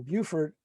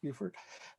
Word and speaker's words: Beaufort: people here from from beaufort um i think i said it right this time i think i was castigated in summer in the summer when i mispronounced buford um and so history